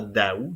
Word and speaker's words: Daou: de ça en fait la prononciation de ce noml c'est effectivement Daou donc on prononce le a mais à l'époque probablement